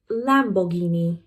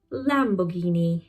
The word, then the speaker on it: Lamborghini: But in British English it is poss Lamborghini. Lamborghini.